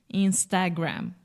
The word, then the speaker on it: Instagram: insta instant Instagram and in English we close the mouth when we say gram right Instagram what I love you so much is that wrong that was perfect okay absolutely perfect the happiest moment in a teacher's life is when the student becomes the teacher yes close your mouth with the final M and there is no sh just Instagram Instagram excellent and Facebook